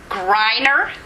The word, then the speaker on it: Greiner: We have Jane Gonzalez and Donna Greiner. Right, a long I. Think of a long I in there. Forget the E.